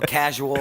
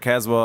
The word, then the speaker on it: Caswell: It's Caswell, correct? That's correct. I mean, a lot of people pronounce things differently, so I didn't know. It's been Caswell, Casual. I've gotten Casual.